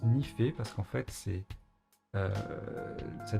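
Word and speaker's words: nife: ni peu et nief eux mais ça se prononce n'y fait parce qu'en fait c'est ça désigne le noyau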